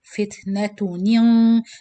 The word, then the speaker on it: فتنة: So you do the gunna before you pronounce the qaf. فتنة. So it's like you're pronouncing two noon. Noon kasra, then noon sakin with gunna, then qaf.